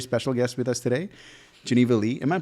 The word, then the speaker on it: Geneva Lei: have a very special guest with us today Geneva Lee am I pronouncing that right genevalay perfect um so she uh she's a singer